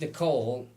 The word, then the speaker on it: Niquole: He's like, does it affect how you pronounce it? She's like, no, because it was spelled like Niquole. Oh my gosh. It's Nicole. Nicole.